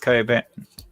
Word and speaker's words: Cockburn: he also asks if you've ever been to Cockburn badger no I haven't been to Cockburn it's pronounced cut Abed is it yeah it's not spelled but it's not spelled coke I know it's pronounced Co a bit not here it's nuts right there are two